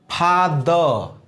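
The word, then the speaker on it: father: जैसे example, फादर, क्या बोलेंगे फ्रेंड्स, फादर, ठीक है। द तक आकर के रुक जाइए, टीएच है ना, द तक, वो आर जो है आवश्यकता अनुसार काम भर खुद अपना उच्चारण खींच लेता है।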